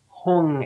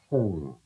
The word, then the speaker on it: Hum: Mane, Padme, Padme, Padme, Hung as if it were spelled H-N-U-N-G, Hung, Hung. And the Hung, when it's working right, resonates in your chest.